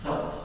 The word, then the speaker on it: Celt: Galatia is the Greek word, by the way, for Celt, or sometimes pronounced Celt.